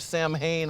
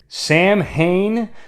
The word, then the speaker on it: Samhain: He who invokes the song of Sam Hain on All Hallows Eve lets loose the riders of hell with a symphony of the damned! Sam Hain, the same mispronunciation that's featured in several of the Halloween movies.